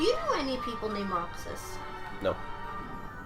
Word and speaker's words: Roxas: Do you know any people named Roxas? No. In the Philippines, we pronounce that name Rojas.